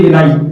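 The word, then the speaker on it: villi: तो इलियम वाले भाग में। ठीक है, ये विलाई, इसको हिंदी में भी विलाई बोलते हैं, विली या विलाई, जो भी आप इसका प्रोनाउंसिएशन करना चाहें।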